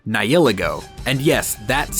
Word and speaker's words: Nihilego: Let's start with point number 1, or should I say UB number 1, Nihilego. And yes, that's how you pronounce it.